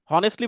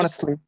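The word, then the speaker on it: honestly: হনেস্টলি বলে না, হনেস্টলি, অনেস্টলি কিন্তু এটা সঠিক উচ্চারণ হচ্ছে অনেস্টলি।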